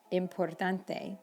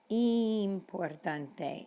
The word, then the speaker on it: importante: Lots of students say importante, but it's importante and interesante. Remember, the letter I in Spanish is E. So importante, interesante.